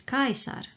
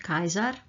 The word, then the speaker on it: Caesar: So, it is Caesar, not Kaiser.